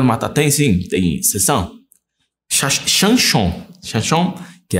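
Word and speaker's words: שמשון: Chanchon, que é a pronúncia correta.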